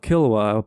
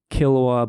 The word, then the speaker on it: Qilwa: That's I Am Not Your Chosen One by Evelyn Benvey and The Bruising of Kilwa by Nassim Jamnia. And Kilwa is spelled Qilwa.